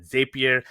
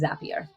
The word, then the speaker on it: Zapier: global head of talent strategy and operations at Zapier. How did I do on the pronunciation? First and foremost, you did great in the pronunciation, but it also is Zapier.